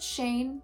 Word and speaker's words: Shane: And of course, I can't forget Shane, who rhymes with rain.